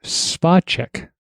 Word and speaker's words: Spacek: Quick note, apparently, as I discovered, her name is actually pronounced Spacek.